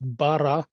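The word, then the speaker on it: בָּרָא: Testament that word it's a Hebrew word that's pronounced Bara and uh that word does not mean created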